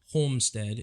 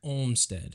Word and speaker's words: Olmsted: It's not Homestead, it's Olmsted. North Olmsted.